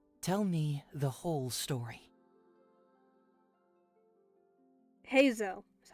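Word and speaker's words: Heizou: take a seat tell me the whole story heo that's how you say it I now have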